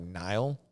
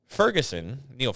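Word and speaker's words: Niall: It looks like when you're reading his name is spelled like, it looks like Nile, but it's pronounced Neil.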